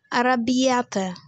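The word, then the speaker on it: arrabbiata: अरबियाटा नहीं इटालियन को इटालियन की तरह बोलेंगे अरबियाटा.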